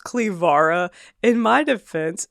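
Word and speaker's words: Cleviara: Clevira was at least my height, if not taller if not taller.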